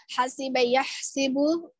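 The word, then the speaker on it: حَسِبَ يَحْسِبُ: এখানে একটা জিনিস অনেকের উচ্চারণে ভুল হচ্ছে, হাসিবা ইয়াহসিবু, ইয়াহসাবু না, হাসিবা ইয়াহসিবু হবে, এটা খেয়াল করতে হবে। হাসিবা ইয়াহসিবু, ফাইলা ইয়াফঈলু এর ওজনে।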